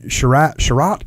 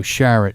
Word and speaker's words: Sharratt: And Sherratt, is that how you pronounce his name? No, Sharratt.